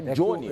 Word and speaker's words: Yony: É Ione. Não, é Johnny. Porque o Y se pronuncia como DJ.